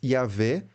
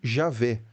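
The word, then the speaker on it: Yahweh: tempo e do espaço a reconstrução acadêmica internacional mais convencional hoje é algo como yahwe ou em português yavé ou Javé mas de novo né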